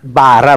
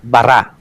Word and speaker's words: bara: Most Hebrew words are accented towards the end. No, so not bara but bara. Just accent them towards the end. Laging nasa dulo. Always at the last the accent.